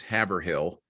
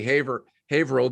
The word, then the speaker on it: Haverhill: see where she lives, you'll think it's Haverhill. Yeah. And it's actually Haverhill, because that's the way everything's pronounced up there. It's pronounced differently than the way that it's spelled.